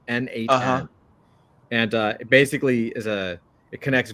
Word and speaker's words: n8n: N8N. It's literally the letter N, the number 8, the letter N. N8N.